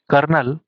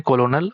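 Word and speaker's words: colonel: से होगा पढ़ते हैं कर्नल हरलैंड सैंडर्स यह कर्नल पढ़ते हैं इसको लिखते हैं कोलोनल और पढ़ते हैं कर्नल इससे बहुत बार पूछते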